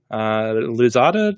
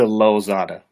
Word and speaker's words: Lozada: Luzada, did I pronounce that correctly? It's close to Lozada.